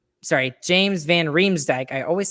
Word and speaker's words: van Riemsdyk: johansen down the center i'd put uh james van wright sorry james van riemsdyk i always say his name wrong on the left side and i put